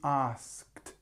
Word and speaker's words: asked: to just practice it you can't say ask good doesn't work it must be asked and you feel there's this almost like a changing of a click asked asked so I asked him